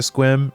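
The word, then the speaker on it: Sequim: Someone did I told someone at work that I was going to Squim and they um they're like that's how that's pronounced.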